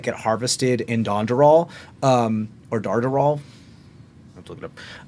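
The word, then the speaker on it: Dandarahl: Well, no, I believe that's how you pronounce it. Boop, boop, boop, boop, boop, boop, boom. D-A-N-D-A-R-A-H-L? Dondoral. Dondoral, yeah.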